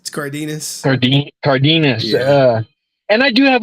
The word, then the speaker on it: Cardenas: But I mean, I remember paying $50 for Steve Carnaldus. I said his name wrong, but Steve, the other Red Ranger, Cardenas.